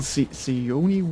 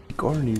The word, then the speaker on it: Sigourney: Wie wird der Name ausgesprochen? Sione Weaver oder? Nee, ich bin überfordert. So. Sigourney Weaver.